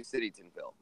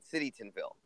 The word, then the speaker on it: Citytonville: england i show you citytonville um and that's how you pronounce the name of his town citytinville get it city townville ah i know it's